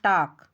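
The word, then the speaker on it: talk: देखो यहाँ टॉक TAL के है, यहाँ L साइलेंट है।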